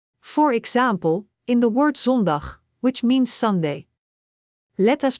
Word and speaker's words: zondag: Ik the Dutch foul o sounds like the O in more. For example, in the word zondag which means Sunday, let us break it down. Zon. Dag.